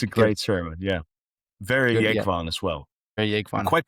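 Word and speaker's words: Jógvan: Well, actually, it's pronounced Jogvan. Jogvan, there was. Yeah. But I don't know. Maybe I don't know how he's used to pronouncing it in English, but in Faroese it's Jogvan. So, as his brother, would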